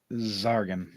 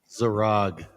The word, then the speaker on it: Zarog: looks right at your Zargan. I said it wrong? Zarog. Wow, I did.